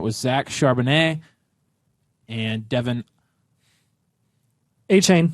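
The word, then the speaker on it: Achane: Zach Chardonnay and Devin a chain a chain yes Devon a chain yeah I thought it was akane yeah well we've been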